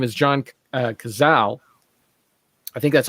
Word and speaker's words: Cazale: Speaking of which, the guy who plays Fredo, his name is John Cazal. I think that's how you say his name, Cazale.